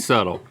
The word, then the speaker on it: subtle: The B is silent. I said subtle.